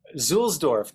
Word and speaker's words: Zulsdorf: How do you pronounce her name? Zulsdorf.